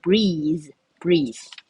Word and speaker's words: breathe: 音，好，所以念作 breathe。